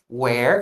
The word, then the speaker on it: where: Nesse caso aqui, where é um som mais aberto. Where. E were eu chamo de um som mais preguiçoso, tá? Então não confunda a pronúncia. Where, aberto. Were, preguiçoso. Ok?